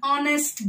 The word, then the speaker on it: honest: like and are an honest girl an honorable man so you don't pronounce it as hover the h is silent in honest h is silent don't